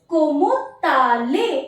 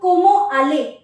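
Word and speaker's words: comment allez: rule you have to pronounce the T here why because the next word is starting with a vowel and इट बिकम ताले the word बिकम कोमो ताले instead of कोमो आले you have to pronounce this T because the next word is starting with a वाल सो कोमो ताले एंड इन the last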